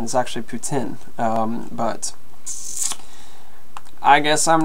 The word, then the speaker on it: poutine: I believe the correct pronunciation is actually poutine, but I guess I'm not perfect.